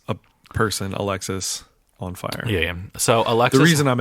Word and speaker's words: Alexisonfire: no is on fire or alexis on it's alexis on fire because it actually says pronounced alexis on fire okay but is it